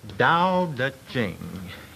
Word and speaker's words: Tao Te Ching: It's pronounced Tao Te Ching, if we want it in the Chinese.